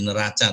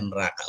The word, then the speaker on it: neraca: Belen nanti bukan jadi neraca tapi jadi neraka gitu ya Oke jadi bapak dan ibu apalagi di kita itu e c suka dibaca k itu neraca dibacanya neraka oh bukan ya Jadi ini adalah